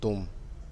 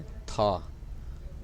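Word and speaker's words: 他: नी नी का मतलब है यू, यानी कि आप, तुम। फिर उसके बाद है TA। ये चाइनीज़ वर्ड है ता, लेकिन इसको हम प्रोनाउंस करेंगे था।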